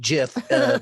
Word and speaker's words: GIF: Well, you're in the well actually camp then, because like people who know will be like, it's actually pronounced Jif based on the founder, which I just did.